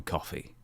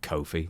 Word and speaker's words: Kofi: I always call him coffee, not Kofi. Okay, fair enough. Like the drink only not spelled the same.